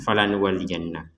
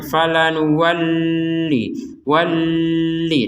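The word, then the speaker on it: فَلَنُوَلِّيَنَّكَ: Falanuwalliyannak, maka jangan kita membacanya falanuwalli walli. Nah, ini enggak boleh. Nah, ini karena ini huruf lam bertasydid. Jadi bukan nun. Kalau nunnya memang wajib falanuwalliyannak, seperti itu.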